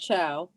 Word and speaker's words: Chao: pronounce your last name it's pronounced chow all right and i'd